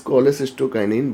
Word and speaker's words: cholecystokinin: Then the second type of enteroendocrine cell, they are CCK cell, and this CCK cell secrete the hormone cholecystokinin. So we are not pronouncing this cholecystokinin, but it is actually cholecystokinin, or in short, it is known as CCK hormone.